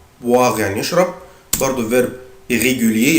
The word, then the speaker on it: boire: يبقى انا بنطق الاو اي او الاو اي بنطقها boire يعني يشرب برضو فيرب irrégulier يتحفظ زي ما